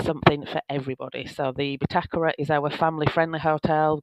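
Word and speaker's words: Bitácora: We've got the Hotel Bitakura. That is the correct way to pronounce it. We've had lots of fun this week on about how to pronounce it, Bitakura, or you may know it as the Bitacora.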